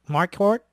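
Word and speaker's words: Marquardt: Yeah, I'm going to tell you now when you went up against this Nate, how do you pronounce that? Mark Mark Hort.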